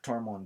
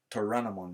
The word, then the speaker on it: Toranomon: And then he goes, freaks out, because apparently Toramon Deki is Toranomon Deki, I'm saying it wrong.